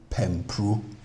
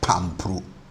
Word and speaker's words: pimpru: So we say pimpru pimpru not pampru. We didn't say pampru it's pru.